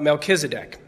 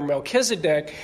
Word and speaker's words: Melchizedek: The last time we had talked about Melchizedek, and I found out some people pronounce it Melchizedek, which I do not.